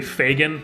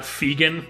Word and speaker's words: Fagan: more I realize it, his name is probably Fagan, not Fegan, so he's Johnny Fagan.